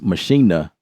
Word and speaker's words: Maschine: machine which is pronounced machina that's how they say it out there in germany germany uh there's a